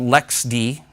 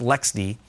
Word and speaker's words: LXD: fall around october called lex d and it's lxd is the full name of it but it's pronounced lex d and it's intended to